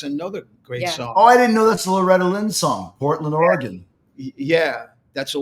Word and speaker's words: Oregon: Portland, Oregon. Yeah, that's a how do you pronounce it? Oregon or Oregon?